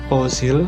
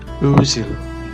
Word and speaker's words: Özil: Nah, bukan Ozil tapi Mesut Özil.